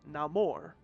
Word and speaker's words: Namor: Hovering above her on winged feet was none other than Neymar or Namore if you go with the Spanish pronunciation, but I'm oldfashioned.